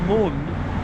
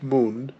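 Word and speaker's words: Gmund: a moment we're currently in Moon which is spelled with a G for no reason and we are looking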